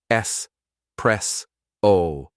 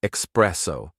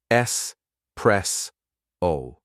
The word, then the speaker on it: espresso: correct British pronunciations espresso s press o no X it's not espresso just s press o ma Mao emphasize the